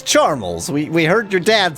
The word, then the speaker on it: Charmles: But it's not Charmley, it's Charmels.